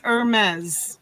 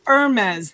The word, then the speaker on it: Hermes: how they did it hi each is silent it's Hermes Irma's Hermes Hermes does it hermas it's not it's erm as the HMS okay my